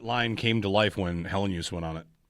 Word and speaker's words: Helenius: Yeah, like use. The word use. Helenius. In the second part. Three syllables. He said it. It's Helenius. Helenius.